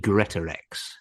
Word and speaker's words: Greatorex: And it's got to be Greatorex.